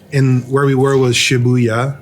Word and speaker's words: Shibuya: where we were was Shibuya right shabuya um I think it's pronounced shabzi sh it's not shabzi shabuya um and it was on